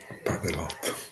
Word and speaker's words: padelot: Allora, se mi sente, mi dica Padelot. Padelot. Sulla O, Sì, aperto, sì. quindi è tronca. Oh, tronca, bravissima.